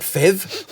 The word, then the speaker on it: PHEV: on who you ask we pronounce it fev like Phillip for phev but the Clean Car